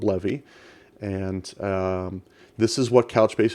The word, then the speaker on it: bleve: source project called bleve I used to say believe but it's actually pronounced levee so if we go